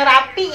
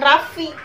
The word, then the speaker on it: Raffi: Nah, sama kayak gue kan orang Sunda ya, gue nggak bisa ngomong F V itu, nggak bisa. Gue bilang rapi ya rapi, bukan Raffi, susah nyebutnya.